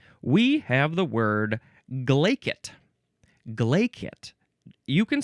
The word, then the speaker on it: glaikit: Glacet. You can spell it g l a i k i t or k t.